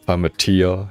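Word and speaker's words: Plamatea: You got the Plamitia guts in the box. Oh, it feels so weird, like... I mentioned this earlier on, but like... you guys know, like, the Plamitia, it's like pronounced Plamitia, and like that just,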